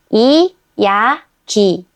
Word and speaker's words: 이야기: 이, 야, and the last one is 그, 이, 기. 이, 야, 기. 이야기.